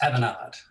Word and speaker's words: Avanade: avanade is did I pronounce that correctly it's aanad aanad aanad French pronounciation Avan very perfect very good and in